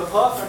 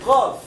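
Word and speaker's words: قاف: And qaf and kaf, they are really having the same point of articulation. But you will find if you try to pronounce that qaf is preceding kaf a little bit. Okay? The points of articulation, the place of the qaf is a little bit behind kaf.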